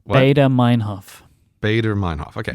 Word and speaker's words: Baader-Meinhof: It's the Baader-Meinhof phenomenon.